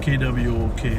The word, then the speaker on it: Kwok: And honor Carrie Kwok. I think that's how you pronounce it. K-W-O-K, right?